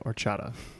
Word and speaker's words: horchata: is spelled correct but I believe the pronunciation drops the H we said or chata yes or Chadha is